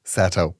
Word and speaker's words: Seto: Pronounced Seto.